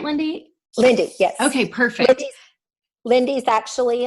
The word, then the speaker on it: Lynde: And that's how I pronounce it, right, Lynde? Lynde, yes.